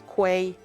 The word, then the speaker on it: quay: It's quay and and the British English say it exactly like key follow the do you